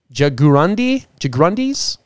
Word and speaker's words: jaguarundi: Margay, jaguarundis. Is that how you say it? Jaguarundi. It's like jaguar and undies.